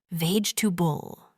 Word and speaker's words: vegetable: Many learners try to pronounce all the letters like vegetable. But in English, we say it shorter. Ve to bull. Try slowly. Vul.